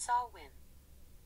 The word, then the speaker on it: Samhain: the ancient celtic festival known as samhain pronounced sawwin okay hey alexa why